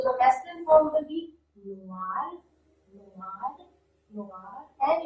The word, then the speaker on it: noir: So the masculine form will be noir, noir, noir, and in the feminine form, just we put an E in the end, and the pronunciation is almost the same, noir, noir, noir, noir.